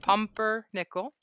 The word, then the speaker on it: pumpernickel: that has like really strong flavor because both rye and pepper-nickel. Pumpernickel.